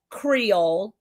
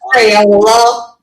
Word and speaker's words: Creole: It's Creole, not Crayola.